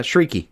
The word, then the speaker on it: Chriqui: now this is out of left field for me, but the nip Oh tuck no, and there's a pronunciation guide on Wikipedia. Yeah, Chriqui.